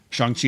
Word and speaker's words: Shang-Chi: Is it Shang-Chi? Is that what it's pronounced? Yeah, that's correct. Shang-Chi and the Legend of the Ten Rings.